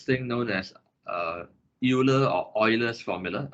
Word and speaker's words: Euler: known as euler or euler's formula the correct way to pronounce this word is euler but anyway the name